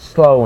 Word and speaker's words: Samhain: ancient selected festival of Samhain pronounced slow in the cells who